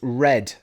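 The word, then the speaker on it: Røde: and it's actually pronounced red. It's Scandinavia. It's got a funny O if you actually see the box and everything.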